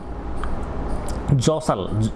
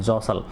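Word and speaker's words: jostle: Crowds भीड़, जौसल JOSTL, जौसल में देखो टी साइलेंट है, जौसल, जौसल यानी धक्का मुक्की, ठीक है ना।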